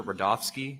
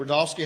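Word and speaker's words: Rudofski: back special agent rodofsky that's r-u-d-o-f-s-k-i and it's pronounced Rudolph and then ski special agent rodolski how you doing today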